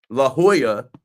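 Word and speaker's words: La Jolla: o l l a which spells Leola I'm sorry I'm not from California I just go out there go to Dodger Stadium La Hoya uh not spelled like the Georgetown Hoya but yeah I guess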